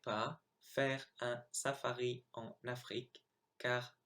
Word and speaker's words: Afrique: So here are the 8 words I mispronounced. So I should have said the second time traverser, dans, tout, Afrique, chameau, serait, génial, nul.